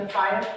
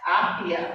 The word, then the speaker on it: Afia: Shamsa and her sister Kaltum created the Afaya Beauty brand, inspired by their combined passion for natural, organic beauty. The term Afaya, am I pronouncing that? Afia, thank you.